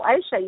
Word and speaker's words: Ayse: Okay, so if you want to get in touch please help me pronounce your, I have a feeling I might be saying it wrong. No, Ayse, you're saying it right. Ayse, that's right.